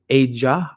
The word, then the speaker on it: Aja: by the way uh my first name is pronounced a Aja Aja AA okay cool cool cool